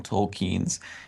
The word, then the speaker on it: Tolkien: and they invented characters that don't exist in tolkien's universe or Tolkien I guess is the correct pronunciation the love triangle between Legolas who wasn't